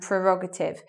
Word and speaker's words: prerogative: schwa but anyway the the stress is meant to be on the second syllable in those words it should be like prescription and prerogative prescription is when you